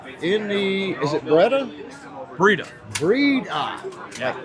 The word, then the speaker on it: Breda: Breda.